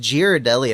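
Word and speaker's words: Ghirardelli: Yeah, I'm going to suffocate myself with this bag later, but for now, I have a It's pronounced Girardelli, apparently.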